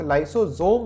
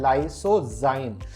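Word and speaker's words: lysozyme: Ritika Rajput, लाइसोजोम नहीं है, क्या है? लाइसोजाइम। There is a difference between लाइसोजोम एंड लाइसोजाइम।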